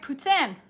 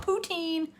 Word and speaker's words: poutine: is not but um i'm trying to say it right amber am i not saying it right puts in not poutine putin um some places up